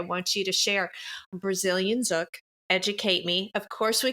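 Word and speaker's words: Zouk: So, it's pronounced zuk.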